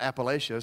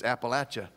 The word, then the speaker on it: Appalachia: the mission trip was they threw an apple at you and I said that's how you say it's not Appalachia so it's Appalachia and so that's how you remember they started throwing apples